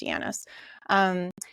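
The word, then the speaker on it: Janis: So with groupthink, Irving Yanis, his name is J-A-N-I-S, but I think it's pronounced Yanis.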